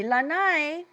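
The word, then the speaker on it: Lānaʻi: So long a at the beginning and an okina at the end. E ho'olohe mai, lanai.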